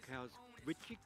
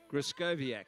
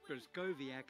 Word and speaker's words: Grzeskowiak: Lane five, Cara Krasvik. I'll get it right. Give me a correct pronunciation. Grzeskowiak. Sorry, Clara, but that's it. Grzeskowiak it is, from Capital Lakes in the ACT.